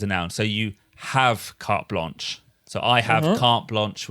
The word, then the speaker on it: carte blanche: But again, no need to make it sound French. Carte blanche. そっか。 Carte blanche. カフトブロンシュ。